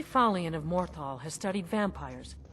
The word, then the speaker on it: Falion: How do you pronounce his name? Fallin or something? Falden? Falden. Falion. Falion!